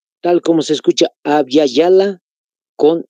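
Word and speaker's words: Abya Yala: les vuelvo a repetir Aby Yala Cómo se escribe Pues con y de yoyo en ambas tal como se escucha abala con y de yoyo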